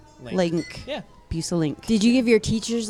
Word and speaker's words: Bueselinck: of them say lanick or lick or whatever it is. Yeah. They never say it right though. Bueselinck. Yeah. Bueselinck.